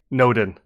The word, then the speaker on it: Nodin: Nodin. Like Odin with an N before it. Oh, okay. Xavier Nodin.